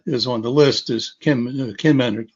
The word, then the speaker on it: Kinmen: And the most famous one that is on the list is Kinmen, pronounced Jinmen in the Chinese pronunciation.